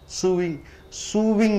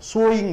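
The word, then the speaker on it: sewing: சூவிங் machine சொல்லுவோம். சோயிங் machine தான் சொல்லணும்.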